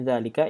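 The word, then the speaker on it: ذلك: Famin zalika ini dibacanya tetap zalika. Zalika itu mabni ya, mabni isim yang mabni. Bacaannya terus sama.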